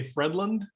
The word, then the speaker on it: Fredlund: week steve hoytland and i meant to ask you how you pronounced your surname because i speak german and i may have over germanized it by steve that's how we'll say it in german here in the us we say fredland but uh that's cool